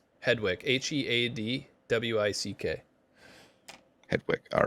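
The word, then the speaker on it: Headwick: r u yeah shukan okay last name hewick h e a d wi c k head Wick all right and of course we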